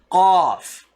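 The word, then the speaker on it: قاف: Qaf. You have the next letter kaf, right? Ka. Just try to bring this sound just a little bit deeper than ka.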